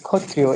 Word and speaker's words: Kshatriya: Mahishas were born of the Kshatriya father, which is pronounced as Kshatriyo in Bangla.